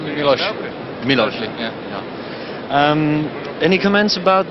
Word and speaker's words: Miloš: Thank you for the congratulations, and pronunciation is. And the first name, Christian name? Miloslav. They call me Miloš.